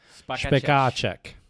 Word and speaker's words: Spekáček: It's actually Spekáček. Spekáček. Oh. Spekáček. Spekáček. Mm-hmm. Yeah, see, I pronounced it like an American.